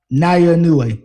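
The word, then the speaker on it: Naoya Inoue: The title holder is Nayo Inu. Is that how you say it? How do you pronounce this gentleman's name? Yeah, now Naya Nue.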